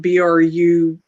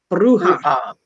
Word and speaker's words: bruja: american practices uh lee brought up a word that's spelled b-r-u-j-a bruja bruja that's spanish espanol uh you're causing some